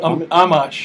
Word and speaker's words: Amash: Now, so Ahmed, how do you pronounce it? Amash.